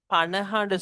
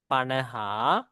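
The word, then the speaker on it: පනහ: நாங்க 50க்கு பனஹான்னு சொல்லுவோம். பனஹா, ஓகே, உச்சரிப்பு எப்படி வரும்?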